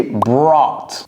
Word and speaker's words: brought: C'est brought. Brought. Ça, c'est important parce que c'est pas facile à prononcer, n'est-ce pas? Brought. Brought. Des fois, on ne prononce même pas le T.